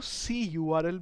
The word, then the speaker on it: cURL: हैं यहाँ पे कि कर्ल को दो तरीके से आप प्रोनाउंस कर सकते हो। आप इसको सी यू आर एल भी बोल सकते हैं।